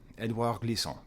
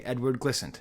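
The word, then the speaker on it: Édouard Glissant: know I'm talking about Edouard Glissant. Edouard Glissant, okay? Edward Glissant, if you want to pronounce it like that, okay?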